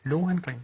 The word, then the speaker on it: Lohengrin: gå ind og se Lohengrin? Lohengrin? Ja. Udtaler du det med H? Ja, Lohengrin. Lohengrin? Ja. Gør tyskerne det? Ja, det gør de, ligesom jeg også siger Wagner. Nå, okay, godt. Lohengrin.